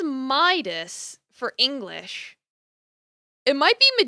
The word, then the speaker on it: Midas: it looks it says Midas for English it might be medidas if you're pronouncing it in the classical Greek but the Modern English pronunciation seems to be Midas just going off of